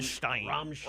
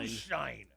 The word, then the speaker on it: Stein: mudder it's rammstein that's you said it wrong it's stein shine is it sewn i'm